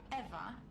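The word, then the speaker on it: Ewa: to a lifeless machine besides eva is spelled e w a not e v e i thought we agreed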